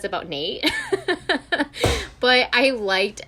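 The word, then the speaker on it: Nayte: i was calling him naughty for a second because it's the y is silent so it was yes i thought it was naughty yeah then my little brother was like no it's nate yeah and julie's like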